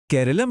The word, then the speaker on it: केरलम: केरलम के अंत में म की ध्वनि का उच्चारण शायद उन्हें मुश्किल लगा तो उन्होंने इसे हटाकर केरल कर दिया और बस यही छोटा